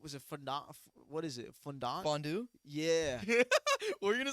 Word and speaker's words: fondue: yeah yes bro okay bro I'm bad at pronouncing certain words chocolate was it fond what is it fond fondue yeah were you going to say Fonda I I don't know chocolate fondue yeah yeah